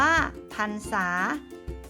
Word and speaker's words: พรรษา: จรรยา อ่าน ว่า จรรยา พรรษา อ่าน ว่า พรรษา บรรทัด อ่าน ว่า บรรทัด